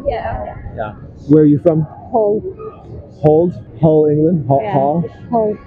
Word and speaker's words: Hull: Hull. Hull, England? Hull? Yeah. Hull. How do you spell that? H-U-L-L.